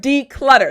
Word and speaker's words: declutter: good job good job kind of sounds like a d sound in the middle right when you say it fast declutter excellent now